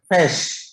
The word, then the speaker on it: ghoti: Well, how do you pronounce? Come on, quick. William Shakespeare proved this. Don't go for Google search. ये word मिलेगा ही नहीं. The star of words. Fish.